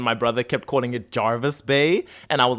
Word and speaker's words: Jervis Bay: AI in the MCU this is Jervis Bay with an E maybe that's why the Australians were pronouncing it as Jarvis B it just sounds like Jarvis I get it I